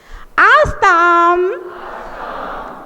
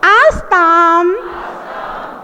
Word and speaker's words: आस्तां: आस्ताम आस्ताम आस्ताम। देखिए माँ के उच्चारण का ध्यान रखो। बहुत सारे लोगों को पता नहीं रहता है कि बिंदी में माँ का उच्चारण करना पड़ता है, तो फिर वो अपनी